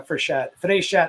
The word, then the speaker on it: Frechette: And it's funny, a lot of people think I'm Italian, right? So Frechette, but I'm French Canadian, but yeah, Frechette.